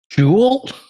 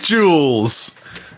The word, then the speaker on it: Jules: Jewel? It is Jules.